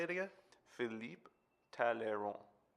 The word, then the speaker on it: Talleyrand: Philippe Talleyrand. Talleyrand. Yeah, the D silent.